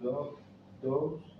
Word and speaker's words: dough: As we have learned, the difference between bread and matzah is that the dough, how do you say this word? Dough. It's Dough. silent G. Silent G.